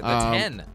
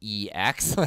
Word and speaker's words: iPhone X: in brackets it said it's pronounced 10, not EX.